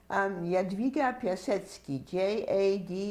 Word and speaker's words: Jadwiga Piasecki: Jiga, please pronounce and spell your full name. Jadwiga Piasecki, Jadwiga Piasecki.